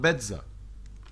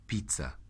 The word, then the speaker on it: pizza: وعندنا حرف الزد او الزي في الايطالي بينطق ت او دز، شايفينها ت او دز. فهي بيتزا او بيتزا، لكن ما حدش يقولها بيتزا. بيتزا جاب لك بيتزا، لا مش هينفع طبعا، كده غلط.